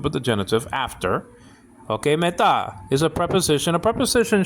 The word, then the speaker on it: mu: It's spelled out mu, sometimes pronounced mu, and nowadays pronounced me.